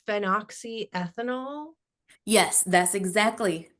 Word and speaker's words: phenoxyethanol: yes, and I think it's pronounced phenoxyethanol.